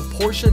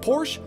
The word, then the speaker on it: Porsche: sorry porsa sorry porsa how do you guys say is it just Porsche or porsa man let me know down in the comment SE I'm almost certain the proper pronunciation is porsa so we're going to